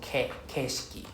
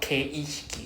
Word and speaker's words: 景色: Keshiki, not ke. There's no kei. So see, even the word here, there's no I after ke. So it's keshiki. Keshiki. So no I here. Please do not pronounce with an I. It's not keishiki. There's no E.